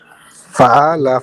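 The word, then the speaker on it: فَعَلَ: পালা Fa'ala. Fa'ala. হ্যাঁ আইন উচ্চারণ মাশাআল্লাহ ঠিক আছে।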